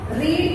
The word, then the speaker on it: read: It's going to be pronounced as रीड एंड रेड. रेड वी are going to pronounce B3 form as रेड, बट RED रेड नहीं लिखते हम यहाँ पे.